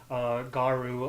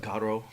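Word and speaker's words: Garou: Folks were playing Garu online against each other's. Excuse me, it's pronounced Garo.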